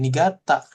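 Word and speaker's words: 新潟: Harusnya kan ini shin ya bacanya ya. Iya. Heeh. Tapi ini atarasi jadi nigata gitu ya. itu special case makanya suka dia heeh dibaca jadi ni gitu ya ada lagi nih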